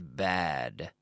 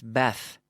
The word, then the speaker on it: bad: Cuidado con la D. Bad. That teacher is bad. Es un mal profesor. He's a bad teacher. He's a bad teacher. He's a bad teacher. No es Beth. No. Bad.